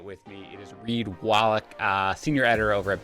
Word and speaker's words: Wallach: to do that with me it is reid wallach uh senior editor over at beth sided find